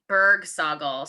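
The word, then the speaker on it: Bergsagel: contact um or on instagram at bergsaugle so that's b--r-g s-a-g--l thank you to my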